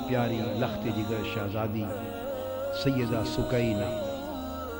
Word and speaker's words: سکینہ: لخت جگر شہزادی سیدہ سکینہ، اصل نام ان کا عربی وزن میں سکینہ ہے، عرف عام میں سکینہ چلتا ہے، اصل لفظ سکینہ۔ سیدہ، میں عرف عام کا